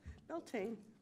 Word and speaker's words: Beltane: How do you say this? Celtic? No, it's supposed to be Beltane.